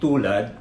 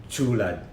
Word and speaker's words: tulad: to her interpretation it's supposed to be tulad but she pronounced it as chula zulet uh it's it's